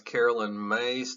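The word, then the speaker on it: Caroline Myss: okay the third person I'm talking about is Carolyn mace that's how you say her name here she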